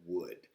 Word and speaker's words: wood: teacher here in Chile I often have students who pronounce the word wood as if it was the word good so I want just really quickly to take a moment and explain that the W sound with wood almost sounds like West so